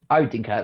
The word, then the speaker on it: Odenkirk: Obviously, every time I see the act, which is Bob, his surname I always struggle with pronouncing. What's Odenkirk. Odenkirk, that's it.